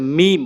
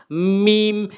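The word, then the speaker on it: ميم: এটা হচ্ছে মিম, অর্থাৎ 2 ঠোঁটের ভেজা অংশ, শুকনো অংশ মিলাবেন, 2 ঠোঁটের শুকনো অংশ। মিম মিম টেনে উচ্চারণ করবেন।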